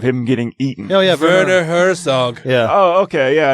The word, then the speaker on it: Werner Herzog: They're spelled with W's, but I pronounced it like a German. Werner. Wim Wenders. Get your Wiener Schnitzels. Werner Herzog.